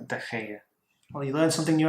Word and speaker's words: De Gea: I thought you pronounced it G, so it's De Gea. G-E-A, but it's De Gea.